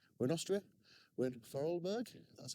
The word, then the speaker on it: Vorarlberg: We're in Austria, we're in Vorarlberg, that's how you pronounce it, and we are actually staying up here for the evening in a little hut around the corner.